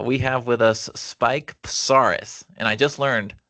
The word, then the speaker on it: Psarris: Uh we have with us Spike Pasaris and I just learned how to properly pronounce that name.